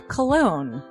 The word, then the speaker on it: Colon: It is a self-published book by Christopher Cologne. Chris Cologne smells good to me. But Look at her. That broke that fucking cold little exterior. He's like, hee. But it is spelled Colon. Him punny.